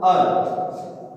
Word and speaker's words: our: आर, ओ यू आर, ओ यू आर का उच्चारण कुछ जगहों पे अवर किया जाता है, कुछ जगहों पर और किया जाता है, लेकिन वास्तविक इसका जो उच्चारण है वो था अर।